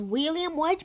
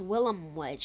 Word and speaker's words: Willem Wedge: I used to think this one was William Wedge, but it's Willem Wedge.